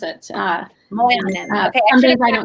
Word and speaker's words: Moilanen: Yeah, it's Moilanen is how you pronounce it. Moilanen.